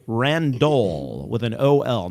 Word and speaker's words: Randol: this number right now 42 42 randol with an ol not randall it's randol o l